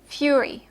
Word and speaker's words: fury: is uh tense free so you say Mutiny Fury okay not M fur Okay Mutiny Fury the vowel is also free okay and that's a